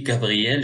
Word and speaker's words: Gabriel: Heureusement, son grand, déjà expliqué, Gabriel, G suivi d'un A, Ga, apparut et lui donna un grand, G suivi d'une consonne, G suivi d'une consonne.